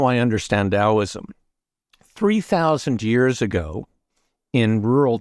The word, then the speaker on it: Taoism: It's spelt with a T. It's doesn't sound like how it's spelt, but 3,000 years, I can only understand things in terms of analogy or stories.